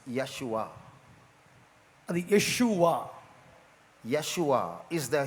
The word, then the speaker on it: Yeshua: It's Yeshua.